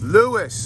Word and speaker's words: Lewes: Lewes, like St. Louis. Oh, okay, but nothing to do with St. Louis.